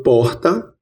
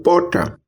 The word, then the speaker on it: porta: Ouça, eu falo porta ou porta. Aqui no interior da Paraíba, como em boa parte do interior do Nordeste, temos a pronúncia de uma fricativa aspirada R.